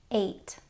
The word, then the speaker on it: eight: which would make it EIG EIG makes a long a sound like in the word eight there are some other